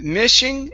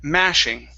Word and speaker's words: mashing: start off here um instead of Ming it's ma mashing mashing good give me an sh there instead of mhing sh